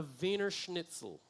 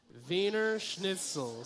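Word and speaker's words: Wiener schnitzel: This is what you call a vener schnitzle. Okay. Can you say that? One, two, three. Everybody say it. Vener schnitle. Some of y'all saying it wrong. Some of y'all back in that red back row. Y'all be saying it wrong. Vener schnitle.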